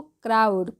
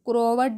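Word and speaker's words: crowd: ही crumpled, क्या पढ़ते हैं, crumpled the paper money and शोवेड it again, क्या पढ़ेंगे, अगेन टू द क्राउड, क्या पढ़ते हैं इसको, क्राउड, क्रोवर्ड नहीं, क्राउड, and repeated the question.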